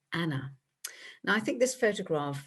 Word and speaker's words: Anne: soon shortened to anne and of course pronounced in the continental way of anna now i think this